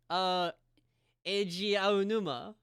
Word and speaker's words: Eiji Aonuma: Like, how do you pronounce this name, Harpy? Let me. Oh, Eiji Aonuma.